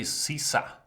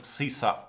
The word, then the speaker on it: Cesa: I'll go with this again so you guys can familiarize yourself with the name Cesa, which is not spelled like Julius Caesar, but with a lot of E's and S's.